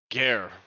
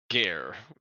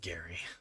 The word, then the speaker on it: Gare: Gare. Gaire. Airy? Gare. Gee. The E is silent. Listen up, Gary.